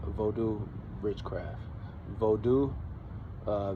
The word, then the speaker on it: Vodun: Vodu, uh, V O D U N, silent N. It's pronounced Bodu.